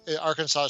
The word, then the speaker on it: Arkansas: a second lady arkansas arkansas so the s is silent at the end um i'm not sure